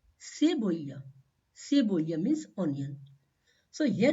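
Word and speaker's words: cebolla: onion onion is called seya seya means onion so here you can see letter C is coming before letter e so the sound of this combination is c seya seya means onion now the sound of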